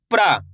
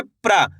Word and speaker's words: प्रा: प्रा। कैसे पढ़ेंगे? प्रा। दोस्तों करने के आपको तेजी के साथ इसका उच्चारण निकालना है। कैसे? प्रा। ऐसे नहीं पढ़ना, पर।